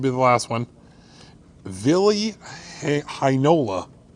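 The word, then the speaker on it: Heinola: the last one villi hinola rhymes with shinola three to go i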